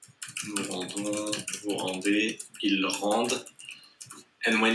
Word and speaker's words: rendent: rendons, vous rendez, ils rendent. And when it's a verb and it's il, we don't pronounce like that. We don't pronounce the ENT, we just pronounce the E.